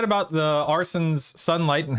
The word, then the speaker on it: Arsyn: Uh, real quick, I just want to make sure I'm pronouncing everyone's name correctly. Arson.